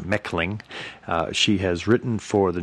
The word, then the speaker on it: Mechling: Mechling, her last name is spelled Mechling, but it's pronounced Mechling.